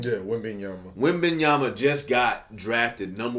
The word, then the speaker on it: Wembanyama: Yeah, Wembanyama. Wembanyama just got drafted number 1 overall in the NBA draft. How do you how do you feel about, or what do you think about Wembanyama, and how do you feel like he's going